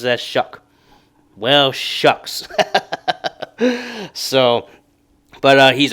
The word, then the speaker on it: Shough: Well, apparently he pronounces it as Shough.